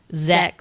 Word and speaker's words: sechs: Okay, 6 in German is SECHS is how you spell it. Zex. So kind of close.